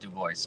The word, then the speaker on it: Dubois: I say Dubois. I think it's been Americanized somewhere along the chain. I don't know. It's as far back as I know. It's just Dubois, but Dubois is fine.